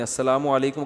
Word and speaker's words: السلام علیکم: میرے بھائی کا السلام علیکم اور صلی اللہ علیہ وسلم کا صحیح تلفظ بتا دیں. السلام علیکم کا ہے السلام علیکم, جو آج کل لوگوں